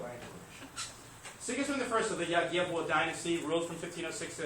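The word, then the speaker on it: Jagiełło: It is pronounced probably something like Yagyevwo.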